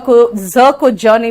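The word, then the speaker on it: cousin: Poison, मैंने भी कहा मैं भी बिहारी हूं, लेकिन मैं ज को ज नहीं बोलती.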